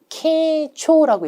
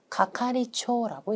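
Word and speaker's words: 係長: 그럼 원래 우리 규칙대로 한국어와 발음이 거의 유사하면 케초라고 읽어야 될 것 같은데 그때는 가카리초라고 읽습니다.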